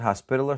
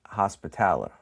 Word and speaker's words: Hospitaller: Some pronounce it Hospitaller, some pronounce it Hospitaller.